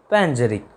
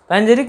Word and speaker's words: panegyric: हमारा आज का पहला वर्ड है पैंजेरिक। पैंजेरिक मीन्स क्या होता है, स्पेलिंग ध्यान रखिएगा, PANEGYRIC।